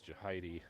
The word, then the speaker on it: Jahidi: And I'm going to apologize, too, if I think I've been pronouncing Mr. West's name wrong. It's Jahidi.